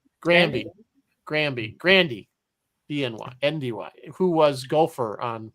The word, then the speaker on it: Grandy: How does this pronounce his name? Grandy.